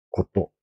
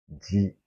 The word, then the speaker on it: 事: 고또, 고또, 지, 훈독과 음독으로 여러 가지 발음이 날 수가 있습니다.